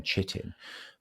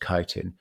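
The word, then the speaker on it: chitin: The the the building block of a mushroom is is is a compound called kitin. It's actually written c hi t i n chittin, but it's actually pronounced kitin.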